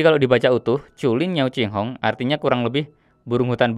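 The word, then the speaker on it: 惊鸿: Lalu di sini ada tulisan yang pengucapannya adalah Qinghong. Kalau di AliExpress ditulisnya Jinghong ya teman-teman ya. Tapi bacanya yang benar adalah Qinghong.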